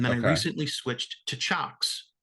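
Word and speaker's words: Cioks: a while and then I recently switched to chocks right which is spelled c-i-o-k-s by the way yeah I believe they're Dutch sure we'll go with that shocks c-i-o-k-s um to me the three oh no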